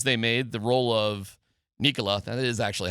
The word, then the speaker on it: Nicola: Josh Kroni less than an hour ago talking about the changes they made the role of Nicola.